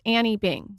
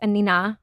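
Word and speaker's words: Anine: I thought it was Annie Bing. So everybody does. Oh, okay. Yes. Okay. I believe she's Swedish. Okay. I only recently learned that it's Anina.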